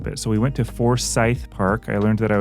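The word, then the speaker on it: Forsyth: so we went to for Scythe Park I learned that I was mispronouncing that a lot I was saying forth oh that's but it's for Scythe like a scythe and there are some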